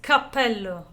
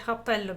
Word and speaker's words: cappello: Hat in Italian is cappello. And he said cappello because in Tuscany you don't pronounce the C.